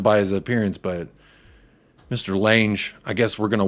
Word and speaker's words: Lange: man Johan l l what I'm saying Lane just so it rhymes with a but I don't know